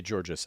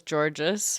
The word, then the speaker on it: Georgas: withheld you want Maria Georges out there on the second biggest podcast in the world talking about all I learned it was georgees from the promo also my apologies for the mispronunciation me too um but